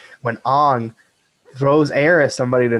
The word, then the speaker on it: Aang: but in real life when aang or as they say in the movie on because they don't like pronouncing names correctly when ang throws air at somebody